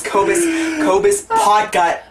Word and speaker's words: Cobus Potgieter: Okay, his name is Cobus Potgieter. Cobus Potgieter. Cobus Potgieter. Potgieter. Cobus. Obviously, it's impossible to pronounce, so that's okay.